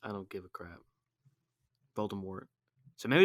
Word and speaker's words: Voldemort: it's like that but did you know it's supposed to be pronounced voldemort yeah but french i don't give a crap voldemort so maybe it's like